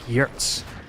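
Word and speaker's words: Giertz: And so like when he had Simone, uh, it's not even Girtz, it's it's it's pronounced like Yurtz or something.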